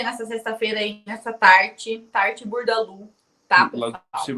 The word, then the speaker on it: Bourdaloue: Burdalu.